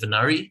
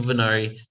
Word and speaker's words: Venari: Is it Venari? You got it. That's it. Okay, first try. Eva Venari.